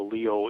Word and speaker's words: Lyot: And it's spelled Lyot. It's a French pronunciation because he was a great French astronomer.